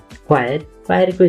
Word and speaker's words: choir: क्वायरको spelling CHOIR भयो भने यसको उच्चारण क्वायर हुन्छ।